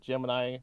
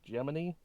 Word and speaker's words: Gemini: flown in NASA's G they told that's not how you're supposed to pronounce it I call it Gemini apparently NASA calls it geminy or geminy which is wrong anyway crude Space Program